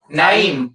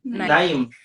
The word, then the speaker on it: Naim: Naim. Naim. I didn't want to mispronounce the name.